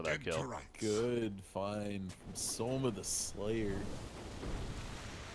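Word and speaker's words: SumaiL: Is it Soma or was it Sema? It's not Sema. No. Because everyone used to make John Cena jokes. And then there was a big post about how that's not how you say it.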